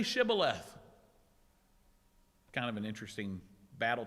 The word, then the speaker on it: Shibboleth: While the Gileadites used sh, they used the Hebrew letter shin, the Ephraimites naturally pronounced it with the simple S.